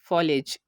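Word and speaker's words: foliage: Third example है फॉलेज। यहाँ पर भी हम देखेंगे कि ए से पहले आई है और ए के बाद जी ई आ गया, तो यहाँ पर भी हमने ए को साइलेंट कर दिया।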